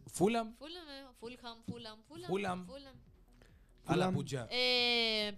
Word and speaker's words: Fulham: Un equipo de la Premier y y Fullampio no se dice y Fulan se dice Fulham.